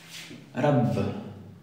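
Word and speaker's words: رب: Rabb. Comienza con una ra y tiene una ba duplicada. Rabb.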